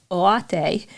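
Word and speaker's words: Oyate: So Oseti Sakowin Oate. The Y is weird in Oate because you want to say the Y sound, and it's not the English Y sound.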